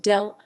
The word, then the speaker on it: Delano: Delano Park, founded in 1887, the 28-acre Delano Park, pronounced Delano, is Morgan County's oldest city park, in continuous operation and an oasis in the heart of historic dɪ្keɪtə.